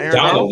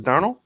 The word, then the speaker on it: Darnold: obsession with darnold still no it's not it's not donald isn't it it's donald trump it's darnold yeah donald's donald mcdonald it's